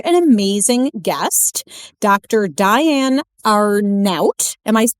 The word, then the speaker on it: Arnaout: Diane Arnout. Am I Did I just say that correctly? You did. Rhymes with snout.